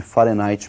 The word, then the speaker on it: Fahrenheit: Para eles lá eles pronunciam Fahrenheit e nós vamos pronunciar aqui do modo aportuguesado, ou seja, nós vamos falar de Fahrenheit mesmo.